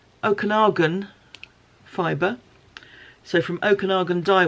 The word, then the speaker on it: Okanagan: this is I was reassured at the time pronounced Okanagan fiber so from Okanagan die Works which is